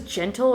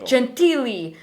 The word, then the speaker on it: Gentili: There's a dude that came into my work, and his last name was, I thought it was Gentle or Gentile, and I'm like, how do you say it? He's like, Gentili.